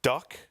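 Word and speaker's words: DUHK: Is it duck? Yeah, but it's spelt funny. It's D-U-H-K. D-U-H-K. Not D-U-C-K, as you might imagine.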